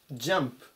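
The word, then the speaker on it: jump: います 343 版ジャンプジャンプ発音に注意ですね 10 じゃなくて者っていうふうに呼びます同士だと飛ぶ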